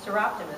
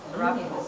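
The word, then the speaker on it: Soroptimists: And Seroptimus is another one we don't have on here in the competition. Seroptimus.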